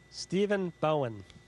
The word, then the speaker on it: Stephen Bowen: for me I want to make sure I pronounce it properly Stephen Bowen Stephen Bowen welcome to welcome to gbh's All